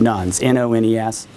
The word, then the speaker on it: nones: And that's just a really lousy word they came up with, nuns, N-O-N-E-S. You always have to spell it because it sounds like nuns, N-U-N-S. But this is nuns, N-O-N-E-S.